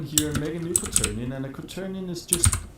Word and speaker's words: quaternion: I know it's quarter neon, I guess. But neon is spelled with an I instead of an E. That's actually not quarter. That'd be... It's like quater. Quaternion. That's actually how you pronounce it, kind of.